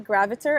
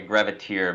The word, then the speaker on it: Graviter: I'm here with Graviter. Am I pronouncing your last name correctly? Nailed it. Nailed it. Most Yeah. people don't. They always butcher it like a graviteer, but you got it, which is surprising.